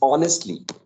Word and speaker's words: honest: people please pay attention to uh uh the pronunciation of these commonly used words then it's honestly that it's not honestly the H sound right